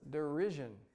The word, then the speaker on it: derision: were saying it like DERURRSION. Why didn't you tell me this earlier? You got to help me on that kind of stuff if I say it wrong.